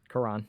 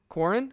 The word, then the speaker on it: Quran: that Quran yeah okay kourin is that how you say Corran Quran is its Quran you're saying it right but that's how it's